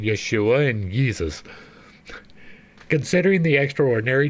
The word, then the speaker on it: Yeshua: much like with Yeshua there was no J it was y the J was a really a why that is why I pronounce it yafa and why I pronounce it Yeshua and yeesus considering the